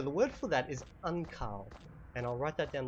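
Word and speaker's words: ankaŭ: written down below um it's got like a little U with a Mini U above it just think of a w sound okay so whenever you see that little U with the U above it it's just a w I just got to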